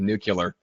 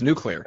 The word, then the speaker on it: nuclear: Bush pronunciation of nuclear. What is that? I don't think I've ever caught this one. That is the wrong pronunciation, Greg. That's the problem. It's nuclear, not nuclear.